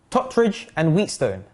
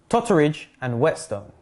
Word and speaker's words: Totteridge and Whetstone: go so number one some may pronounce this station as tottridge and wheatstone but in fact it's pronounced totteridge and whetstone pronounced as hoben not